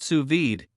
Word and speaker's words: sous vide: it for years and now you can too suid pronounced suid is a cooking technique that utilizes highly precise